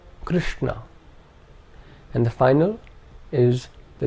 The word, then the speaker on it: Krishna: The second is a cerebral sh. This is the sh of Krishna. Krishna.